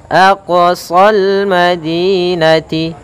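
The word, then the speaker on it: أقصى: Kemudian di sini ada bacaan qalqalah, yaitu huruf qafnya memantul. Aqsa, jangan sampai aqsa, tapi aqsal madinah, aqsal madinati, ya, aqsa. Kemudian pada lafal sol di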